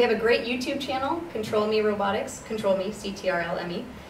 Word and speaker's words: Ctrl.Me: information about you so we are ctrlme it's pronounced control me robotics we're based in venice beach you can